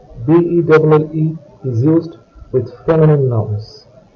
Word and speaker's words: belle: Belle, B-E-L-L-E, is used with feminine nouns. B-E-L, belle, and B-E-L-L-E, belle, have a very similar pronunciation.